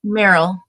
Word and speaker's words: Merrill: Am I saying it right? Merryill. Merryill. It's like Merrill.